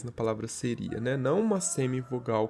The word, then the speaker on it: seria: seria pode ver que tem uma diferença na nossa pro o a ele é pronunciado com mais intensidade o tanto I quanto o a nessa palavra pronunciado com mais intensidade do que na palavra anterior a gente disse séria A gente diz seria então a gente consegue ver que tem um hiato ali tem duas vogais na palavra seria né